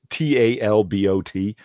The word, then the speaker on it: Talbot: This is drawn by, I've never known how to say this guy's name, Eric Talbot or Eric Talbot. It's Talbot. Talbot.